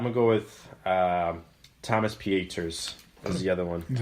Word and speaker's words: Pieters: I'm going to go with Thomas Pieters is the other one. Is it, where did I say his name? Yeah. It's not Peters? No, it's German.